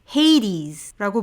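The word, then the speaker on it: Hades: 다음은 하데스, 헤이디스라고 발음이 되고 로만 네임으로는 플루토로 알려져 있는 염라대왕의 카운터파트죠.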